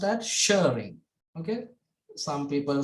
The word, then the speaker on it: Schering: So this is pronounced as Shearing.